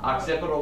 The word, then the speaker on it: occipital: Occipital lobe, that's how you pronounce it.